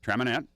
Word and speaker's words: Traminette: Traminette.